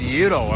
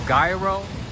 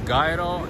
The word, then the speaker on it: gyro: somebody said no it's gairo and then some other person said no the proper way to say it is yuro i guess greeks call it hito good morning to you